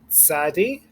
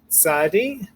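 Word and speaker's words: צדי: first new letter is called sadi sadi and we're told that saudi makes the sound of ts as in betsy so one thing i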